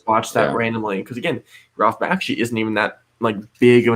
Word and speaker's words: Bakshi: How do you pronounce it? Ralph Bakshi.